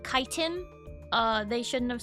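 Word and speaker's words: chitin: Yes, I do pronounce it chitten. You know, like when you sit in a chair, like a ch sound because um yeah, I don't really care that apparently it's called kiten.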